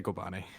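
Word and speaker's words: Kobani: but I'm looking at Kobane. Is that how it's pronounced? Yeah. Yeah. If you want to be, yeah, just say Kobane. Don't say Okay, anything else.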